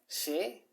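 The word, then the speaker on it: 사: And you know, they had this tradition of the number four, which actually is pronounced she in Korean and symbolizes the death.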